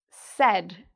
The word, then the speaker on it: said: It rhymes with the name "Ed". "Said".